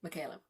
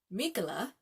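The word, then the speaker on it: Mikaela: Yeah, I'm sure it's Mikala because his nickname is Mika, the one that's similar to my name because people say Michaela, the way it's spelled.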